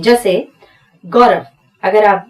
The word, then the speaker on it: गौरव: व के लिए आपको बताया था कि अगर उच्चारण करते समय मुंह गोल होता हो तो W लिखना है, पर यह है गौरव, व सिंपल है, V लिखेंगे।